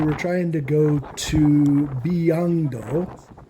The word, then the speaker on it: 비양도: trying to go to Biangdo, which I just call kind of rain sheep island, because B is rain and Yang is sheep. This makes me remember how to say it.